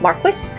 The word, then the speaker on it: Marquis: the marus or Marquee I keep forgetting to look up how to actually pronounce that I think it's Marquis um but I read it